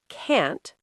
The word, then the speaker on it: can: We usually say can't with a strong, clear t sound at the end. But can when it's in the middle of a sentence is often reduced and sounds weak almost like can or s.